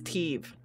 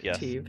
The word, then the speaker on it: Teeve: Okay, his name is Teeve. No. Named Teeve. Yes. For Tim and Steve put together. Or I guess Steve, but the S is silent. Silent.